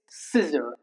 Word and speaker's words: scissor: The C remains silent when C comes after the letter S. Okay. For example, scissor not. It's scissor.